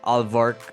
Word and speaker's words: Alvark: So, a few days ago, Kai Sotto scores his career high in what was a loss against Alvark, which did I pronounce it right?